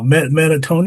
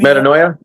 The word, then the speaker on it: Metanoia: I'm having a hard time pronouncing the name though. Metatonia? Metanoia.